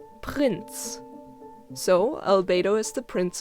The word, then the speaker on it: Prinz: Prinz obviously means prince and is pronounced in almost the exact same way, other than, again, the R. Prince, and in German, Prinz.